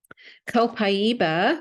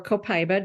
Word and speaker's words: Copaiba: Copaiba, or Copaiba, depending on how you want to pronounce it, either way is fine.